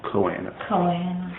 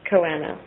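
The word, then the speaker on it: Choanae: plates, and this is also known as the Choana. Choana? Is that how you say it? Choana.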